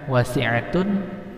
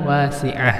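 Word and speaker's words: وصية: Wasi'at atau wasi'ah? Yang benar itu adalah wasi'ah, sama kayak tadi. Ini juga hukumnya waqaf ta marbutah. Ya, hasanah. Hasanat dibaca hasanah, wasi'at dibaca menjadi wasi'ah.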